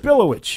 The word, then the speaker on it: Przybyłowicz: And the track is titled Blood on the Cobblestones, composed by name I'm going to mispronounce, Marcin Przybyłowicz. Nailed it. I'm going to tell you right now, you nailed it. Przybyłowicz.